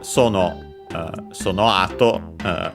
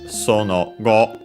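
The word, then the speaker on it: その後: And by the way, as also the dictionary mentions, we have an alternative pronunciation, which is sono go, which is, well, also technically another one, but honestly, the ones that you hear more often are sono ato, like in this case,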